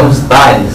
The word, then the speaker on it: Ustares: É Ustares. Ustares. Acontece um acento no ar. E esse nome é de origem? Basca.